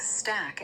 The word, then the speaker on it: stack: Stack has a short a sound like in cat.